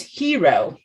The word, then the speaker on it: gyro: r o gyro gyro but g row what happened it's hero like he wrote but is that like